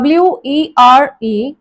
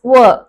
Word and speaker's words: were: இது எந்தெந்த வேர்ட்ஸோட ரைம் ஆகி போகும் அப்படின்னு சொன்னா per, blur, stir, spur, her. So it's were. நம்ம எப்படி யூஸ்வலா சிலர் என்ன மாதிரி மிஸ்டேக் கமிட் பண்ணுவாங்க அப்படின்னு சொன்னா எப்படி WHERE ப்ரொனவுன்ஸ் பண்றோமோ அதே மாதிரி WEREயும் were அப்படின்னு சொல்லிடுவாங்க. They were good friends அப்படின்னு சொல்லிடுவாங்க. பட் இட் இஸ் were கிடையாது, were. இந்த were வந்து ஒரு பிரைமரி ஆக்சிலரி.